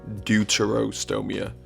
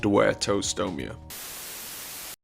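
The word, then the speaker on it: Deuterostomia: me from the future I think this is meant to be pronounced duto stoia not dto stoia which is mainly made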